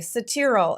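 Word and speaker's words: Cetearyl: poured on um ok cetera alcohol is how you say it and that is a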